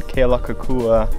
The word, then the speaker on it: Kealakekua: All right, we're up at Kona Joe's coffee plantation up here in Kealakekua.